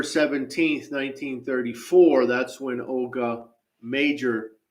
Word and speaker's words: Mauger: 1934 that's when Olga major again it looks like malgar but it's major disappeared and so of